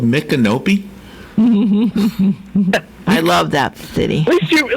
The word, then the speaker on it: Micanopy: have you ever heard of a place called Micanopy? I love that city. At least you pronounced it right. Yeah. Micanopy.